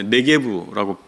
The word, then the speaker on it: 네겝: 네겝이라고 되어 있는 것은 원래 네게브라고 발음할 수가 있는데 브엘세바를 중심으로 한 유대 남부의 사막지대, 마치 사막과 같은 지대가 있습니다.